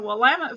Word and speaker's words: Willamette: after moving here from Texas that Oregon is pronounced Oregon, and the Willamette Valley is the Willamette Valley, not the Willamette Valley, and Oregon is not Oregon, and it is not Oregon.